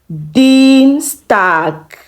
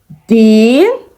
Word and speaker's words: Dienstag: Dienstag. Dienstag.